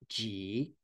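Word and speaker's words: 集: It's pronounced ji, ji. And this is the way the Chinese translate samudaya or samudya.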